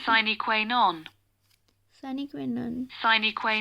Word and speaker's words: sine qua non: What is the pronunciation? Sine qua non.